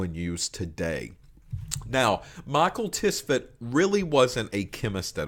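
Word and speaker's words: Tswett: And the man that kind of started the chromatography world, his last name was Tisvet. T-S-W-E-T-T. Mikhail Tisvet, but we really spell it like Michael.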